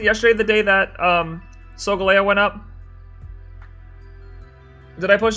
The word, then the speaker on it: Solgaleo: don't say solgaleo it's solgaleo it's like galileo and seoul so galio i know